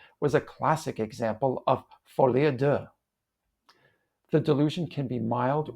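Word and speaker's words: folie à deux: Folie de. People often put the accent on the first syllable, but it's more correct to accent the second syllable. Folie de.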